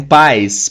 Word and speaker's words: pie: And pies. Pie parece a palavra pai do português, né?